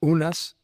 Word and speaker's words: Unas: It may correspond to the name wis or usually pronounced unas um by those who transliterate it from the Egyptian.